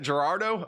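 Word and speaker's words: Girardeau: How do you say Cape Gerardo in Missouri? Cape Gerardo, Missouri. Cape Cape Gerardo. Gerardo. Is it Gerardo? Is that it? Gerardo.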